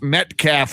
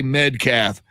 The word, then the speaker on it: Metcalf: doraca will remember this landry could not pronounce metcalf with a t he'd say medcath i think i think we've